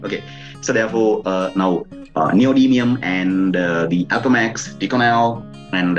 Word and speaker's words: neodymium: to know about that neodymium, right? Probably you better go through that word several times. Neodymium, right? Sometimes people pronounce that thing as neodymium also. Both are accepted equally, no problem, right?